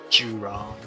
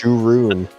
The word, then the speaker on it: Juroon: Juron. Yeah, what the fuck was that? What? It's his pet's name. Rome. It's Juroon. Juroon.